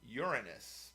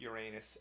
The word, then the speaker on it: Uranus: So they say Uranus, but then you're starting the name of the planet with the word urine. So stay with Uranus.